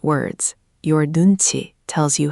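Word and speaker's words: 눈치: And that brings us to one of my favorite Korean concepts, nunchi. This is the art of reading the room. You can see it on screen. Nun. Chi.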